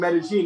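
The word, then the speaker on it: Medellín: my opinion is the one in it's called metazine actually and Colombians pronounced double elves as a J so whereas in Spain or Mexico it might be called many here it's called meta-gene and it's the most charming Expo in the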